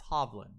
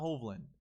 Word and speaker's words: Hovland: Any of the professionals out there that don't know how to say this kid's name, it's Hovland. It's not Hovland. Hovland. Say it with me.